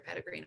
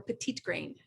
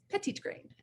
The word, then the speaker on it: petitgrain: ways of use you can get from your pedigreen oil so or petite grain as the gentleman who sourced it who is